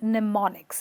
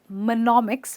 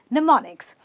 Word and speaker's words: mnemonics: By the way, the M is silent, so you simply say mnemonics. It's not monomics, but mnemonics.